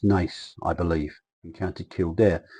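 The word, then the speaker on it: Naas: loads of times and I know that NAS isn't pronounced Nars it's Nace I believe encountered killed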